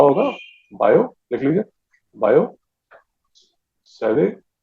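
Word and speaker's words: Biot–Savart: अब ये फ्रेंच है, तो जो फ्रेंच पढ़ते हैं वो इसको ठीक प्रोनाउंस कर सकते हैं। अपने यहाँ पर देसी जितने भी हैं उसको बायोट सावर्ट लॉ करके चला देते हैं।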